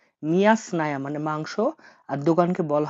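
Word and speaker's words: мясная: মিয়া স্নায়া। মিয়া স্নায়া মানে মাংস।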